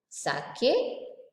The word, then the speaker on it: sake: Sake, the pronunciation is fa.